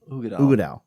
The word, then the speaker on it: Uigeadail: Oh, pronounce Uigeadail. Uigeadail.